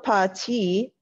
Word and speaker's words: parti: Nous sommes partis vers 11h le soir. So parti is spelled like this, parti, so it's an I sounding ending, it's not an E accent.